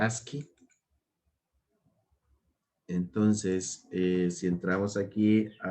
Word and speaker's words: ASCII: el código ASCII, o bueno, en inglés se pronuncia ASCII.